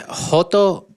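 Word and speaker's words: joto: go back and forth right it's a it's hoto gordo all right and that's spelled j o t o just like his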